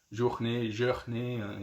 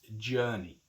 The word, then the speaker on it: journey: Okay, and be careful with the pronunciation here. It's not journée, it's journey.